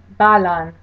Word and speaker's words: balan: So in the word kan, that one syllable gets the stress. In the word balan, the first syllable gets the stress.